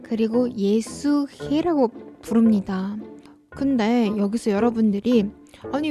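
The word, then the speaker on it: Есүхэй: 그래서 이제 몽고에 해는 목 깊은 곳에서 이제 목을 좀 긁으면서 소리를 내 줘야 돼요.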